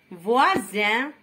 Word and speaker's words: voisin: Isoler, cousin, voisin, cuisinière, cousine, cousine le féminin de cousin.